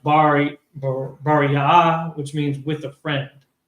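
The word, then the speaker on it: Beriah: and Bariah, It's pronounced Bariah, which means with a friend.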